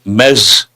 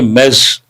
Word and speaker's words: Ms: Imagine the spelling is me e zed mess. That's how you have to pronounce.